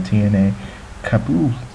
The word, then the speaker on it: Etienne Capoue: Speaking of the transfers again, well, Everton are really closing in on the midfielder, Toulouse's midfielder, Etienne Capoue is what they pronounce it.